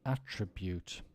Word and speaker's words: attribute: If it's a verb, the stress goes on the second syllable. So let's do the verb. To conduct, to attribute, to combat.